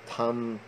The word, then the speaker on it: Tan: There is a Tan Guan Cheng. He's from Malaysia, so there's a Tom Guan Cheng, which is, you know, Malaysian pronunciation, or some dialect of Chinese pronunciation.